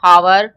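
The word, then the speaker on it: hour: है आपको ए आर आपको पता है एच इसमें साइलेंट है साइलेंट है तो हमारा क्या साउंड आ रहा है ववे का साउंड आ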